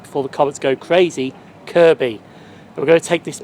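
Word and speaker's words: Kirkby: to take a ride to the station better pronounced right before the Cs go crazy Kirby we're going to take this Mery Well Service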